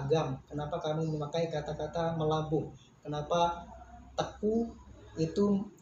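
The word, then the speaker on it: Meulaboh: Sebenarnya itu katanya Meulabu, tetapi ternyata membacanya Melabu.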